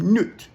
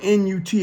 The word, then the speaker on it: Nut: Okay, but there was a Egyptian goddess, however you want to say it, named Nut. Her name is spelled N-U-T. It looks like nut, but it's pronounced Nut.